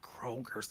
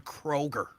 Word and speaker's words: Kroger: It's not Kroger's. There's no S on Kroger.